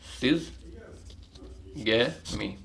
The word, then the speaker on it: syzygy: तो यहाँ पर इस स्टेज को बोल देंगे सिज़गैमी, सिज़गनी, SYZGY, अरे क्या थी स्पेलिंग, SYZYGY, सिज़गी, ठीक है।